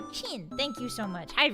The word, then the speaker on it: Qin: It's pronounced like Qin.